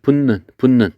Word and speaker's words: 붙는: 붙는 했을 때 붙는 이렇게 발음이 됩니다.